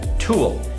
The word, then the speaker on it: TUL: to cover today a product called tool now it's spelled teeth u L so this is a